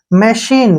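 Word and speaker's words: machine: ई अब यहां पे एम ए से क्या बन गया मैं और सी एच से क्या बन गया श और आई जो है ई के रूप में हो जाएगा एन ई का न बन गया ठीक है ना मशीन क्या बन गया मशीन मशीन का मतलब होता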